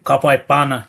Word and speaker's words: Bhana: How's it How's it pronounced? Yeah. Kapana.